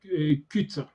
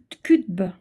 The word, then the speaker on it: Qutb: Il s'appelle Sayed Qutb. Je vous l'appelle, je le prononce mal. Ouais. Son nom de famille, c'est Q de Québec, U de uniforme, T de tango, B de bravo.